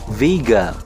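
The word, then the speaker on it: Wiege: Sebenarnya bukan W sih, itu dari bahasa Jerman. Vega pronunciation-nya kayak gitu, artinya cradle atau tempat tidur buat bayi.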